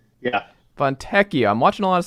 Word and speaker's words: Fontecchio: Fontecchio, I guess, is the right pronunciation. If it's ECCIO, it's Ek. Yeah. Fontecchio.